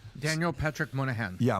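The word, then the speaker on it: Moynihan: do you say his last name Daniel Patrick Monahan yeah Monahan in 1965 nearly 25% of black children will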